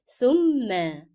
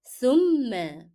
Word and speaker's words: ثم: So here we have fatha above shadda and we need to stress on mim because it is a shadda letter now. How to say the word? ثم. ثم.